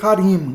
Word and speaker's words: Harim: Lembra que eu falei em outros vídeos, hebraico, a tonicidade geralmente está na última sílaba, tá?